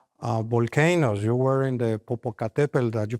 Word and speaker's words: Popocatépetl: You were in the Popocatépetl that you pronounced perfectly well. Congratulations. Popocatépetl.